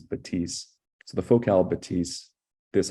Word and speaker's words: Bathys: It's called the Batisse. And I think a lot of North Americans are gonna just read the spelling and think it's the Bathys, it's Bathys, but the French pronunciation is Batisse.